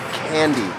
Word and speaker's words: Kandy: After a couple of hours of driving, we have arrived to the city of Kandy. Spelled with a K, not with a C. But pronounced like the confectionaries.